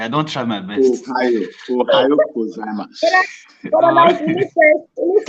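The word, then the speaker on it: おはようございます: Ohayo gozaimasu. Okay, ohayo gozaimasu. Okay. Oh yeah, ohayo gozaimasu. Ohayo gozaimasu. Okay, okay. I don't try my best. Ohayo gozaimasu.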